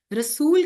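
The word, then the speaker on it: رسول: रसूल का मतलब एक नबी एक रसूल। और इसमें प्रॉपर वाओ का साउंड आएगा। रसूल लेकिन तेजी से प्रोनाउंस करेंगे रुसुल तो ये ज्यादा रसूलों की बात हो जाएगी।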